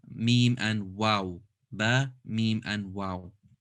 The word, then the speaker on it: م: good next one is meme two lips good the last letter